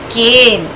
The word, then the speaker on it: cane: But when Magic E is added at the end of the word, it will say its name.